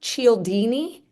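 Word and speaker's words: Cialdini: that negotiation book you referenced yes it's Robert Chini and it's called science of influence and persuasion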